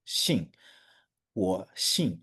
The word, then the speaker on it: 姓: Yeah, it's the falling tone, also known as the fourth tone. Okay. Okay, 我 so 姓，我姓.